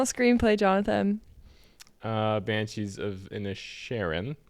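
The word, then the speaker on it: Inisherin: okay best original screenplay Jonathan uh banshees of in the Sharon pronounced correctly I thought it was Sheeran like Ed Sheeran banshees even a Sharon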